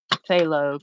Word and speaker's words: phthalo: all right let's try let's try this dark phthalo green potato I don't know how you said I'm gonna say it is silent yeah phthalo green phthalo must be Greek